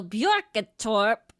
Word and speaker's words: Björketorp: So Björketorp, which that is was beautiful. Pronounced how you spell it.